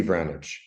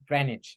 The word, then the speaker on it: Vranich: Hello, Vranich. Is that pronounced correctly? Damn close. Vranich. Vranich. Okay, okay. Yeah, whether there's a trill on that R is always tricky for me.